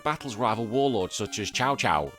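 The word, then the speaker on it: Cao Cao: From there, the player recruits officers, raises armies, and battles rival warlords such as Chow Chowo. Yeah, Chowo Chow. C AO CAO. I'm pronouncing that as Chow Chow in a quest to unify the land.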